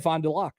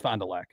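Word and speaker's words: Fond du Lac: It looks like Fondulac, but it's FondeLac. No, I always said Fondelac. No, it's Fondelac.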